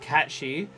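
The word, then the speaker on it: Cait Sith: from Gaelic mythology and it's technically pronounced cat she derived from the Gaelic word um kite meaning cat and um for fairies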